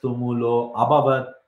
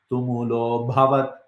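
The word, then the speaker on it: तुमुलोऽभवत्: So this A has disappeared because of a sandhi. So you should not be pronouncing it. Some people say it. Some people say sa shabdas tumulo abhavat. You cannot say like that. This A has been removed. So you have to say tumulo bhavat.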